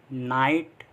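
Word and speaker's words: night: Next rule है हमारा, जब आई के बाद जी एच टी आए तो भी आई को आई से पढ़ते हैं, और जी एच टी में जी एच साइलेंट रहता है। मतलब जब भी जी एच टी साथ में आ रहा है तो उसमें जी एच को हम पढ़ते नहीं हैं, जैसे फाइट, राइट, लाइट, नाइट, माइट।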